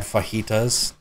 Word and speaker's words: fajita: do you know have you have you had fajitas you're saying it wrong too no yeah you